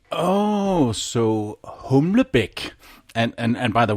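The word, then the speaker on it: Humlebæk: l e b a e k oh so humic and and and by the way that is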